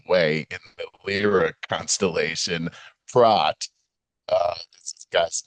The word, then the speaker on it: Prot: in the Lyra constellation, Prot, this guy's name, it's like Kevin Spacey, and pronounced with a long Prot, rhyming with boat, is committed to the Psychiatric Institute of Manhattan, where he meets Dr.